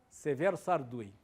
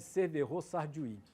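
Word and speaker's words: Severo Sarduy: o livro em francês por isso as pessoas pronunciam o nome dele como francesa imagina o cara chama-se chamava-se Severo sardui mas todo mundo chama de cerverô sardwig só que o cara não é francês que era cubano tal e no dicionário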